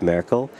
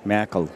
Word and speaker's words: Merkel: I like the Merkel, which is the proper pronunciation, as opposed to Merkel.